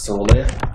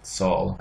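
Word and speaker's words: Sól: Same name, but spelled slightly differently, is found in the Norse religion, Sol, S-O-L. And with the line on the O, meaning that it's more closed, the way it's pronounced.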